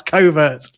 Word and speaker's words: covert: And it's thought that they look very similar for the same reason that we pronounce covert like overt.